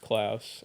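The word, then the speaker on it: Klaus: Yes, it's pronounced Klouse.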